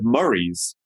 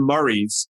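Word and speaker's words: Murrie: on the odd couple but this is not spelled like murray the cop or the first name it's m-u-r-r-i-e yes so mars and murray's were the founders of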